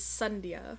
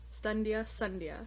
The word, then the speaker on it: Sandhya: So it actually says here, the closest pronunciation of her name for non-Hindi speakers is Sandhya, which is supposed to be rhymed with Stundia. Sandhya.